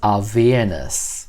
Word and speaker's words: Avernus: And apparently, it's pronounced Avernus.